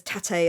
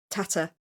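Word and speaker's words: טאַטע: From what I'm told, the most jarring one is Ariel herself keeps saying the Yiddish word for father incorrectly, because she says tate a lot. It's tata.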